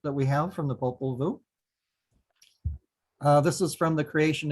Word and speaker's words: Popol Vuh: The correct pronunciation would be Popol Vuh, but very few people can pronounce that. So Popol Vuh is fine.